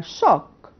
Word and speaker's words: shock: لكن لو انا aware ان sh بنطقها shock وهنا بنطقها chalk يبقى اتس اوكي ام سيف،